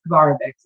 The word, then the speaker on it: Kovarovics: So yes, Kovarovics is how you pronounce it.